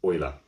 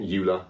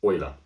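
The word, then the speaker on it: Euler: this guy here called Leonard oer not Ula it is pronounced oer and he was a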